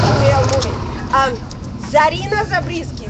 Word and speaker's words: Zarina: now a very easy say your name and spell it my name my name is like movie um Zarina zabriski z a r i n a zabis